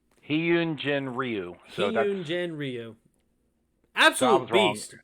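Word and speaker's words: Hyun-jin Ryu: i'd looked it up it's pronounced he yoon i'm going to mess that up the second time i say it he yoon jin ryu yoon jen ryu absolutely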